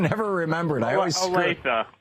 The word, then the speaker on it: Olathe: I've given up trying to pronounce the name of your city, Drew. I can never remember it. I always Olathe. Olathe, thank you.